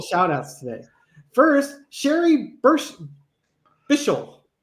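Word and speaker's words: Bichall: First, Sherry Birst Bishal B I C H A L L I'm glad you practiced the pronunciation of her name before you you shouted it out there.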